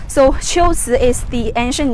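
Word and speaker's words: 龟兹: so it should be the right way to pronounce the two characters is chiltsu so shiots is the ancient name of kucha the place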